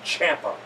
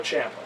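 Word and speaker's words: Ciampa: He said it rhymes with Tampa. So it's supposed to be Champa, not spelled Champa.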